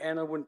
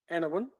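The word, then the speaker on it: Anaiwan: I'm a descendant of the Anawan people. Anawan is spelled A-N-A-I-W-A-N.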